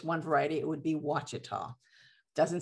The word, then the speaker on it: Ouachita: variety, it would be Wachita. Doesn't sound like the pronunciation isn't what it looks like right there. So it's Wachita.